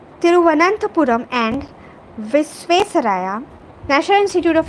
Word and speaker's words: Thiruvananthapuram: The innovation is the result of a collaborative effort between the Center for Development of Advanced Computing, Thiruvananthapuram. This is a complex word. People often pronounce it wrong. Thiruvananthapuram and Visvesvaraya National Institute of Technology, VNIT, Nagpur.